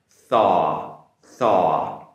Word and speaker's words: thaw: So be careful on the pronunciation, make the TH sound, it's a soft TH sound. Thaw, thaw.